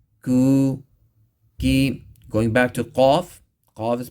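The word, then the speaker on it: ق: Going back to qaf. Qaf is pronounced with the extreme back of the tongue touching the soft palate and the uvula.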